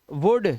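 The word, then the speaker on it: would: रहे हो आप, तो ये होता है कुड, वुड, शुड। यहां पर डी से पहले आया एल है तो एल हमारा साइलेंट है।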